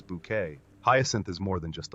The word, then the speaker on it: Bucket: when she carried Hyasin Bucket. A middle-class woman obsessed with social status on the show Keeping Up from 1990 to 1995. With her insistence on pronouncing bucket as bouquet, Hyasin is more than just a laugh.